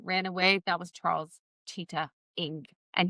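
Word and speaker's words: Chitat: He said, "That guy that ran away, that was Charles Cheetah Ng." And he said cheetah, pronounced cheetah, just in case there was any confusion.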